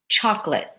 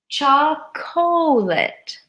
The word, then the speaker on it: chocolate: I like very much chocolate chocolate and if we look at the spelling it looks like chocolate chocolate this is that's wrong we squish it chocolate chocolate many people squish that together the next word I've